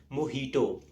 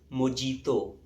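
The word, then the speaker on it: mojito: and finally we have मोहितो मोटो इज a cocktail drink and इट्स of miss pronounced as मोजीतो सो the next time you गो टू a restaurant and order a मोहितो don't call it मोजीतो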